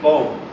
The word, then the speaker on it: bomb: Another silent B is bomb.